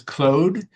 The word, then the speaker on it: Claude: Um, the the way you're pronouncing um I I've always pronounced it Claude. Have Have you heard something different? Uh yeah the I do believe that the correct pronunciation is Clo because uh the the reason Anthropic created